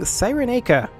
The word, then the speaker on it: Cyrenaica: Hello everybody and welcome back to Imperator Rome, where we are currently attacking Cyrenaica. I've decided it's a hard C for this 5 minutes. Pretty soon it'll be a soft C again, I'm sure.